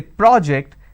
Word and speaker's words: project: I'm using per o so when I have project it's an R sound when I have project I have an o sound but the bigger aspect